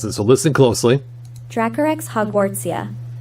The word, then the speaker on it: Dracorex hogwartsia: So I put in the corner here on the screen this little thing that will pronounce it. So listen closely. Dracorex hogwartsia. Dracorex hogwartsia.